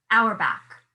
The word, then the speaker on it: Auerbach: Uh, Yeah, how do you pronounce Albert. his? Albert. Yes, it's Auberach. Auerbach.